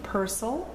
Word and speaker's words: Purcell: line baroque period finally the man's name Percel or if it's easier for you to remember Purcell it's how it's spelled so that's what we